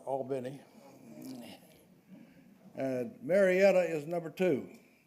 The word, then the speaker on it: Albany: according to this poll I would pronounce it Albany but they I think they call it Albin and maretta is number